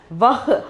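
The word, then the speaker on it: वह: We have to pronounce this as vah, ha. Okay, ha sound we have to pronounce vag.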